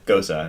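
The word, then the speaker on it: Gose: fact I had to look up how to pronounce okay Gosa and it's Gosa how do you okay you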